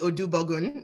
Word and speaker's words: Odubogun: my name is odubogun i promise it looks like it's spelt so usually you just read through the consonants and you get there but um yeah so